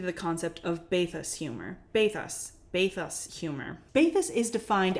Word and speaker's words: bathos: bathos baths bath us I wanted to say bathos but it's bathos an article that introduced me to the concept of bathus humor bathos bathus humor baithus is defined as an effective